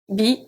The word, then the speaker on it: bien: Bien. Bien. So here the EN does not make the sound en. It's bien. I-E-N is pronounced ien.